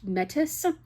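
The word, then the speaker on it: Métis: She said, "I'm maybe 10% I think it's pronounced Metis. It's like a um it's like the native peoples of Canada.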